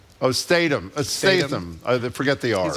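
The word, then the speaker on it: Statham: you say his name who is he Jason Stratham oh Statum I forget they are he's a big action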